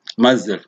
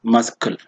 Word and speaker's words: muzzle: Or muzzle, muzzle, you don't say muscle. It is not muscle, but muzzle.